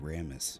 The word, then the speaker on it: Ramis: Gilda Radner, Joe Flaherty, Bill Murray, and Harold Ramis. But in the summer... What? Ramis, not Ramis. This word.